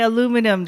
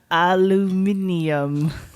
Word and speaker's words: aluminum: say z they say z they don't say aluminum they say aluminium which is wrong but why is that wrong